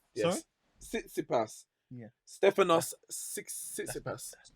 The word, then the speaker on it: Tsitsipas: I can pronounce his name, man. Don't watch that. It is Tsitsipas. Yes. Sorry? Tsitsipas.